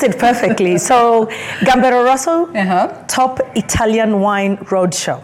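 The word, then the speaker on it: Gambero Rosso: most let's talk about the event it's called gamb Roso how am I supposed to pronounce it you pronounced it perfectly so gamb Roso top Italian wine Road Show okay and this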